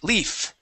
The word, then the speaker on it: leaf: leaves leave no yes so it' be more of an F sound leaves and leaf leaf leaves Leaf good handkerchiefs handkerchief